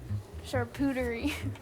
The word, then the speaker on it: charcuterie: wondering, do you know how to pronounce this word? Charcuterie.